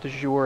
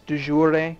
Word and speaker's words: de jure: I always pronounce it dour it's not right it's dour which is a it sounds Italian to me but I know it's